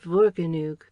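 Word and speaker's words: Morgannwg: into F's, and that this country is called Vorganug, with the W pronounced like oo, and the F like V.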